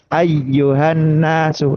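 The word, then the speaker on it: أيها الناس: Lebih lama dari ayyuhanasu lebih lama lagi. Ayyuhanasu seperti itu lebih lama.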